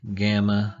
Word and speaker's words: gamma: Gamma has the G sound, although it's written like a Y.